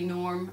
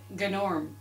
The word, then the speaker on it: Gnorm: I know we all say it's gnome and it should be norm, and even though there's a G, it's a silent G. Now, according to Gnorm in the film, it is pronounced gnome and Gnorm.